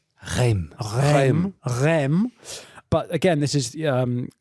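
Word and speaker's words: Reims: how do you say it Charlie Rem but again this is um in in territory that is uh controlled by the English.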